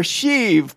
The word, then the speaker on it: Sheev: we're talking about emperor sheev Palpatine burnt indirect but it's pronounced she ev she you could just